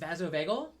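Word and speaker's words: vasovagal: Vaso vagel um and it is vazo veel yeah but it's all one word okay it is simp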